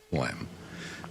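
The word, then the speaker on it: phlegm: to get rid of flem. But anyway, isn't it flem a funny word? That's a great I mean, it's it's not it's spelled but not like it sounds.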